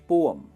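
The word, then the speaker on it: poem: पोयम school में हम सबने पढ़ी है, पोयम कहेंगे, गलत है। इसे कहते हैं पोअम। पोअम जैसा होता है ना वैसे पोअम, ये इसका सही प्रोनाउंसिएशन है।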